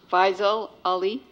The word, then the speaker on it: Faisal Ali: thank you very much Faisal Ali that's how I pronounce it my name is personally